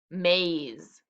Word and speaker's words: maze: like me and then we cross off the e because it's silent and we put the